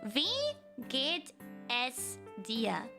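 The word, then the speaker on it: Wie geht's dir: that later but uh you pronounce this as we get S Dia V oh so it's like not we it's it's V okay you can imagine the French we I guess we get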